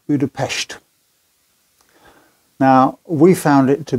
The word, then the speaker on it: Budapest: own history too and you'll find the locals pronounce it Buddha PES now we found it